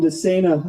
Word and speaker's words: DeSena: Moving things along here, I asked Representative Jim DeSena how to pronounce his name. He said, just think insane for running for public office.